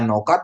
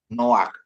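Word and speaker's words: נֹחַ: kan no gitu ya aturannya bacanya Noka secara bacaan biasa tapi bukan dibaca Noka tapi baca no no ya Bapak Ibu ya noak artinya Nuh ya Bapak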